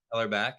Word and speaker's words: Hellerbach: Is it Hellerbach? That's pronounced that correctly? Heller back is fine. Hellerback.